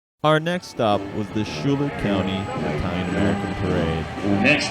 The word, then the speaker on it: Schuyler: So I just learned the way they pronounce it is Schuyler County.